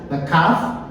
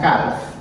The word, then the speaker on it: calf: This is the silent letter. Na calf. Elle là pas commencer. On va dire calf. On dit calf.